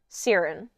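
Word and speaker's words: Cairran: and then dras has a brother named um sarin that's GIC Sears sarin Sears the outlet story no it's spelled like c a i r r a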